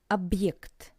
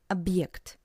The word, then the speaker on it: объект: Объект, which means object, and you can hear this little pause between ob and ект. Объект. Ob, pause, ект. Объект. Объект.